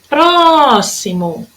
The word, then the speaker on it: próximo: Agora na próxima palavrinha, que é a próximo. Olha lá. A minha sílaba tônica, que durou mais tempo, foi o pró. Próximo, durou mais tempo.